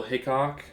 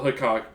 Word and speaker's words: Hickok: I always thought it was Hiccup. James Butler Hickok.